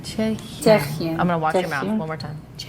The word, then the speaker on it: Tschechien: Czechien. Tschechien.